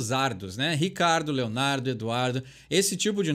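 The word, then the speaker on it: Ricciardo: tem aqui no Brasil mas os americanos conseguem pronunciar o nome dele do jeito que a gente escuta Ricardo no Brasil então quando eles falam Ricardo lendo da forma que escreve o nome dele do piloto eles pronunciam corretamente ele Oi Lê ou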